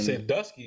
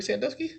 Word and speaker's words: Sandusky: Sandusky? Columbus. Yes. Like Jerry Sandusky? Chill. It's pronounced the same way.